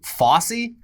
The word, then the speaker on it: Fauci: But his Fauci side of the family, the other Anthony Fauci, they pronounce it Fossey.